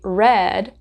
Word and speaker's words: read: So in the past it is he read rhymes with the color red and in base form it is read.